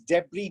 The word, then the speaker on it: debris: screen in a bit so that is debris d-e-b-r-i-s debris not debris not debris the next